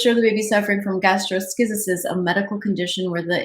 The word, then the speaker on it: gastroschisis: say it, double check how to say this, gastroschisis. It's one of those big words. The post showed the baby suffering from gastroschisis, a medical condition where the intestines are exposed.